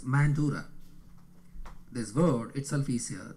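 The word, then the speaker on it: Mandara: It is pronounced in English as Mandura.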